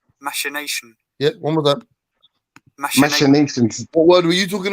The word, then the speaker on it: machinations: The correct pronunciation of that word is machinations.